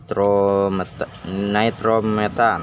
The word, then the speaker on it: nitrometane: Nah, di sini saya mau menjelaskan tentang nitrometan ya, alias yang ditulisannya itu kayak gini. Nitrometane, dibacanya nitrometan.